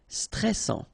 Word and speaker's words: stressant: here l ok l stressant final pronounce together and then double s and it will open pronunciation of e so stressant stressant chic ok you pronounce the final c and then c chic de ban lieu.